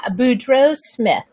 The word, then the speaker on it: Boudreau Smith: bring to you kim boudreau smith am i pronouncing your name right oh my gosh catherine you are so spot on with my last name not only are you